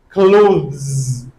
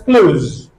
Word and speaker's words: clothes: possible but for ease we have a second option that is close make this the silent just leave it out close ounce it like